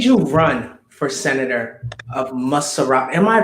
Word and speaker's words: Montserrado: TUKPAH, may I ask you, what made you run for senator of MONTSERRODO? Am I pronouncing that right? MONTSERRODO County. Yeah, MONTSERRODO County, that's right.